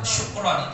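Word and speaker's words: شكرًا: Ya, syukron itu artinya terima kasih, pakai shin tebal, syan.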